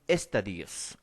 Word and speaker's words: estadios: Lewis Morgan dividió la historia universal en eras y en estadios. Ojo, se pronuncia así, estadios, ¿no?